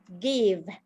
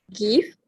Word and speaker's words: give: It's a pronunciation of give. Yeah, it's about the vowel sound. Is This it because of short vowel? If correct, yeah, it's give here. It's not. It's unlike others, and others is like magic E for I.